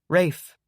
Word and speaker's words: Rafe: Rafe. Ray. Rafe with an F. Rafe. Can I call him Ray? Why would you want to call him Ray? Rafe is already one syllable.